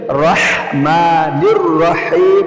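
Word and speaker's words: الرحمن الرحيم: হা আসে গলার মাঝখান থেকে আর হা আসে শুরু থেকে। সুতরাং দুইটা দুইটার জায়গা থেকে উচ্চারণ হয়। এজন্য রাহমানির রাহিম বলতে হবে। কি বলতে হবে? রাহমানির রাহিম।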